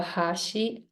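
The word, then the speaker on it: 箸: So hashi or hashi could have 3 meanings in Japanese. When I say hashi, that means chopsticks. And then when I say hashi, that becomes a bridge. And then when I say hashi, that means edge.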